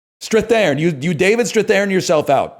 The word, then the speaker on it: Strathairn: How do you pronounce his name? Strathairn.